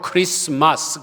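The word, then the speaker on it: Christmas: 성탄절을 영어로 크리스마스 그러는데 이 크리스는 크라이스트의 단축형이죠. 뒤에 T자를 우리가 발음을 안 하는데 그리스도라는 단어와 예배라는 단어 마스가 합쳐진 단어입니다.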